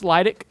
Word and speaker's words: Lydic: It's Lydic, and that could be Leidick. Yeah. I don't know, right? But I know that it's Leidick, and I think I had that consciously going in circles in my mind.